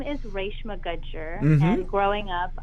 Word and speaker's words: Reshma Gajjar: so my name is Ray Shima Gudger meant growing up I I always said Reshma good jar kits phonetically in English